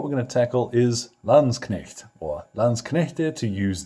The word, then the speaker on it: Landsknecht: in Germany will attest there's a K in there so you pronounce it now these guys were